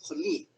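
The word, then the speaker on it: χολή: el idioma griego tenemos Esa palabra que se pronuncia joli el joli era según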